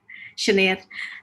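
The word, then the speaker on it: Sinéad: Sinead, is that how you pronounce it? Or? Yeah, it's Sinead, almost right. Sinead.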